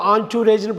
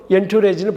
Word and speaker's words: entourage: ஸோ இதை வந்து ஆன்டூரேஜ்னு படிக்கணும், என்டூரேஜ்னு படிக்கக்கூடாது.